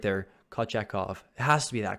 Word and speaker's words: Kochetkov: I pronounced it right there, Kochetkov.